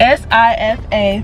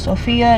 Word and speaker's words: Sifa: Spelled S-I-F-A. Pronounced SIFA. Not SIFA, not SIFA, not Sophia, not. Definitely not, so don't call me. Call me SIFA.